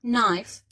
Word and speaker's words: knife: الكي ان بتتنطق ان بس يعني الكي silent يبقى knife.